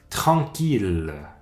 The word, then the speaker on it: tranquille: va se prononcer hier sauf dans trois mots qu'on voit quand même souvent en français ville on prend ce l de cette fois-ci ville c'est une exception une autre mille comme million ou milliards troisième exception tranquille notez que en